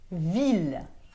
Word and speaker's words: ville: ด ว ่ า Ville. Ville s'écrit V-I-L-L-E. Vous ne prononcez pas le E de la fin et vous dites ville.